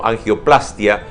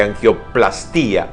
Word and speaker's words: angioplastia: reparación de la nariz, corresponde aclarar que la pronunciación de estos vocablos debe ser con mayor fuerza en la primera A de plastia y no sobre la I de angioplastía o rinoplastía, pues no va y es muy bueno leerlo.